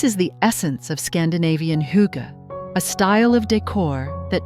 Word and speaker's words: hygge: Pronounced Hygge, it's a Danish concept that's all about creating a space where you feel safe, cozy, and content.